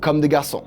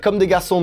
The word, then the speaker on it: Comme des Garçons: The Nike Terminator with Comme des Garçons. Yeah, I know, it's an advantage to be French when you have to pronounce the name of the brands.